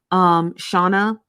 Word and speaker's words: Shona: What I'm going to do is I'm going to do a little bit more digging into Shauna or Shona. I think it's pronounced Shona.